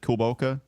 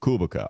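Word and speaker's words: Kulboka: tough on that one i've always pronounced it kobolka but then basketball reference tells me kubica all right then we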